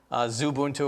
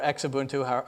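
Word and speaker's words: Xubuntu: a different desktop environment so there's Zoo Ubuntu or X Ubuntu however you want to pronounce it which uses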